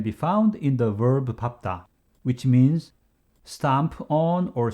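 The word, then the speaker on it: 밟다: only case can be found in the verb papta which means stamp on or step on with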